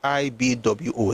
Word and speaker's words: Igbo: I is pronounced IB Wo.